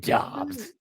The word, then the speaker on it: Dobbs: A guy named Dobbs. Rhymes with Hobbs.